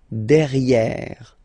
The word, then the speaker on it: derrière: So if you look carefully, you've got E here and then double R, so it will open the sound of this E, and you should pronounce it E, okay? Derrière.